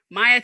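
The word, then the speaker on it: Myia: for the viewers please oh maya m-y-i-a and you can find me on instagram at it's maya it's my phone it's m-y-i-a yes okay maya yes thank you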